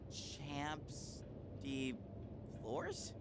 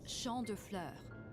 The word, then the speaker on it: Champ de Fleurs: Champs de floors? How do you say that? Chambre de fleur. It's champ de fleurs. It means field of flowers.